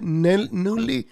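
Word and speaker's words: Nunley: I think that's how you pronounce the last name. N-U-N-N-L-Y. Newley. Natalie Maron's pronouncing it wrong.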